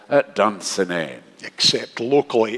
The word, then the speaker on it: Dunsinane: But his castle was, as Shakespeare says, at Dunsinane. Except locally it's pronounced Dunsinane.